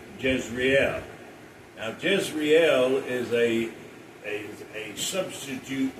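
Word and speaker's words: Jezreel: Now, Jezrael is a a a substitute word for Israel. In in the Hebrew, Jezrael is pronounced Yazar and Hebrew is pronounced Israel.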